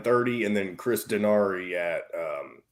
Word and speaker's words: Denari: I've ever asked it is it dinari or daenery officially how do you say it it's daenery it is daenery it's daenery yes because I've heard yes